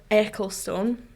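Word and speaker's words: Ecclestone: Formula 1 boss yeah Bernie eckelstone that's how you say it rightone there we go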